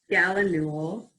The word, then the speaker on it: gallinule: How would a purple gallinule get to Yarmouth? I'm sure I didn't pronounce that right. No, that's right.